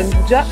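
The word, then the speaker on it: 'nduja: Ho scoperto che non si pronuncia anduia ma si pronuncia andugia.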